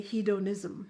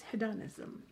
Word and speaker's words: hedonism: word hey Donna sue because in India I would say he'd own ISM but it's hidden ISM the reason I want